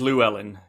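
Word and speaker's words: Llewelyn: Luen I think yeah well the way it's spelled it's it's very strange and and it's very easy to sort of kind of like contract it into Luan but no it is it is Luellen with two with Three L's Luellen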